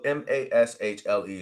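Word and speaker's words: Mashle: it's pronounced it's spelled m-a-s-h-l-e so if you're going to type it in it's spelled different but I believe they say Mash I I think that's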